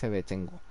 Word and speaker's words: Shevchenko: Porque hay una luchadora como tal de UFC que tiene ese apellido, así que es Shevchenko, básicamente. Y lo sé 100% que se pronuncia así.